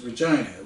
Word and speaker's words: Regina: Now, at this time, I don't know that Canadians pronounce Regina as Regina, which rhymes with, you know.